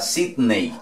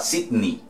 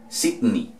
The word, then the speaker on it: Sydney: La E y la Y equivalen a una I. ¿Ok? Entonces no vamos a decir que vamos para Sydney. Vamos para Sydney. Sydney.